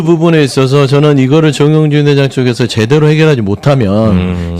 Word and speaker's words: 정용진: 저도 들여다보니까 정윤준 회장의 주 정영진 아니고 정용진. 발음 좀 제발 조심 좀 하시라.